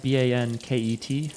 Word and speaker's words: banket: how it's spelled, but I'm fairly certain it's B-A-N-K-E-T, like bank-et.